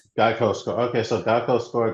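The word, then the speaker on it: Gaokao: um in China they have an exam called GEICO okay that's spelled G AO K AO Yeah, which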